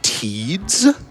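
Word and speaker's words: Tidus: Titus is the winner right now. Let's go. $5. Uh, got 25 bucks from Peanut 153 who says, um, it's actually pronounced Teeds.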